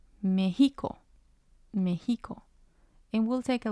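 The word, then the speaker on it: México: the last syllable well the tilde is used when there are exceptions to the rule for example mexico mexico without the tilde on the e it would sound different it would sound like mexico mexico and we'll take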